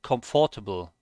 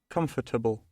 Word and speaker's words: comfortable: pronounce this comfortable comfortable conf table they basically ignore the o and the r in the middle comfortable that's how most